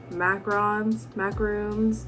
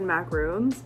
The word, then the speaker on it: macaron: making more of those macarons, don't know how you pronounce them. I think it's macaron. My whole life I said macaroons and everyone said that was wrong. So I think it's macaron, probably.